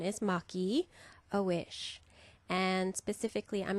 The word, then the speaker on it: Maki: It's not Maki a Wish. The Japanese pronunciation is Maki a Wish.